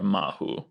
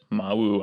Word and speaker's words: Mawu: the west african tradition addresses the the great creator goddess as mau or mahu i find mahu a little easier to say but mawu i think is actually slightly more common pronunciation and thanks to